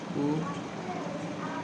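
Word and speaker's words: could: May mite, can, কুড, এল উচ্চারণটা হয় না।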